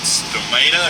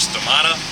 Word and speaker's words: stomata: side of the leaves called stata or stomata depending on how you want to pronounce it and with those basically